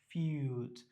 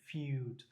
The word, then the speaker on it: feud: উচ্চারণ কি ফিউড। এর মধ্যে আমরা দেখছি যে কোলনের মতো বা ত্রিভুজ যদি দেওয়া থাকে সেটা আমরা টেনে উচ্চারণ করতে হবে ফিউড, আর যে উচ্চারণটা অন্তঃস্থর মতো।